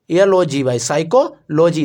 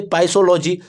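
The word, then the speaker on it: psychology: आप बस साइकोलॉजी की स्पेलिंग लिखेंगे, PCYCHOLOGY, साइकोलॉजी। देखिए, इसमें पी साइलेंट होता है, आप कहेंगे पाइसोलॉजी, तो नहीं, इसमें पी क्या होता है, साइलेंट होता है, तो इसको हम पढ़ते हैं साइकोलॉजी।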